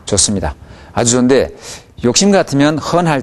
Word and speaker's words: 很: 네, 어, 헌 할 때 어 발음을 내주면 듣기에 훨씬 좋습니다.